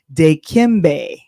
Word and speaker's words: Dikembe: I'm just gonna make sure I pronounce it right. Dikembe.